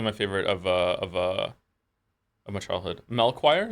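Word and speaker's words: Melchior: Melchoir is how you say his name.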